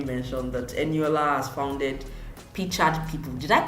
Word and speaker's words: Pictured People: support system you mentioned, that Eniola has founded Pictured People. Did I call it right? It's Pictured, yeah? Hey, you actually did pronounce it right.